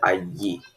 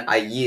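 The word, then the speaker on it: allí: There is actually next to no pronunciation difference between the ahi and ayi. However, if you want to differentiate between the two, I would recommend that you stress the two L's here.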